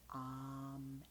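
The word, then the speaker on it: Aum: it here om or ohm but it's actually pronounced um a u m um so um ah why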